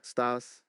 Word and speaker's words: estás: The estás is pronounced a little differently. It's more like ¿Cómo es, estás? like estás. Try saying cómo estás with me.